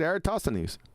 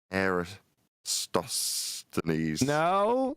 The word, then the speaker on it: Eratosthenes: That's the way I say it, Eratosthenes. Yeah, but it's not E, is it? It doesn't start with an E, does it? Era. That's how you say it. Era. Yeah. Eratosthenes.